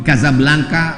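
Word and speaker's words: Casablanca: kuliah nama negaranya Maroko ibukotanya tulisannya Caca blancha cara bacanya Kadzab langka Kaza artinya rumah Blanca artinya putih Kasablanka rumah warna putih bahasa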